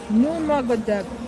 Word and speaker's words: Nurmagomedov: Uh, Korea, how do you pronounce his name? Nurmagomedov.